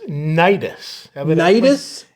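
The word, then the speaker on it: Cnidus: that in verse seven it's nidus evidently the sea is silent yeah anytime you see a word that starts with c n yeah it's uh that's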